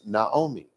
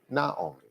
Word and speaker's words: Naomi: and her mother-in-law uh her name was Naomi not naom Naomi and Naomi and her